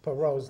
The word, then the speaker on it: Perot: Kathy Mitchell says I don't pronounce Perot's name right. She says it's Perot. Well, maybe it is Perot, but being a Boston guy, I pronounce it Perot, okay? Like the French Perot.